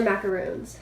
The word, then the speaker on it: macaroon: like almond macarons or macaroons however you pronounce them I think that macaroon is the pronunciation for the coconut ones and macaron is the French ones with the almond flour on the kuruma middle